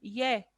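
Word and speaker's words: 예: La E con un palito más al lado izquierdo, por así decirlo, con una línea más al lado izquierdo, se pronuncia ye, ye.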